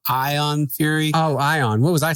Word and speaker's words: Ion Fury: I will say that it's called Ion Fury. Oh, Ion. What was I saying? The way you were saying it, it sounded like you were mispronouncing iron.